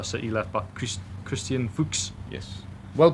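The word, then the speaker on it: Fuchs: the former leester city left by CH Christian fuks yes well pronounced you could I was dying to say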